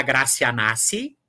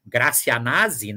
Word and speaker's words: Gracia Nasi: dedicatória a a dona gracia nasci na aqui há que ter muito cuidado algumas pessoas pronunciam gracia Nasi né então isso é um isso gera do ponto de vista sonoro um incômodo muito grande né e entre